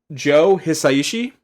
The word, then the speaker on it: Joe Hisaishi: I believe it's pronounced Joe Hisaishi was the composer.